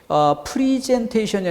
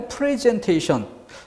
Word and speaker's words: 프레젠테이션: 프리젠테이션이 아니라 프레젠테이션. 미국식 발음보다는 영국식 발음을 따르는 것이 기본 질서이기 때문에 프리가 아니라 프레. 거기까지는 좋았어요. 그런데 문제는 영국식 발음으로 간다면 프레 한 다음에 뒤에 즌이 돼야 되는데 즌이 아니라 젠. 이 부분은 또 그 미국식 발음에 가깝게 이게 짬뽕이 되는 양상이에요. 그래서 혼란이 좀 질서 정연하게 공부하려고 해도 쉽지가 않은 단어가 3번 선택지입니다. 어찌됐든 프레젠테이션이 맞는 단어다. 자, 그 정도 암기해둘 만한 단어가 되겠고요.